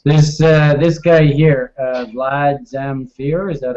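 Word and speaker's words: Vlad Zamfir: go like this this uh this guy here Vlad zamere is that how you pronounce it yep that's correct um he's saying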